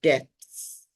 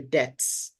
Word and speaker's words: debts: Sometimes people mispronounce this word as incur the depths. And some people even say depths. That's a story for another day. So it's not incur, it is incur the debts, incur financial losses, incur, not incur.